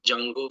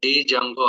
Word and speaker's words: Django: we are learning guys so here D is a silent word guys that's why Jung D is a silent character that's why Jango framework we are calling so as a student if you are pronouncing like Django also no problem so sometimes we are calling like a Django sometimes we calling like a Jango framework okay later we will